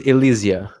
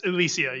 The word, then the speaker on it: Ilysia: Right, so pronunciation is Ilysia. Yes, Ilysia, yeah.